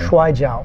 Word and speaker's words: Shuai Jiao: I mean, I know you study many styles, but the Chinese wrestling, please pronounce that for me. Shuai Jiao.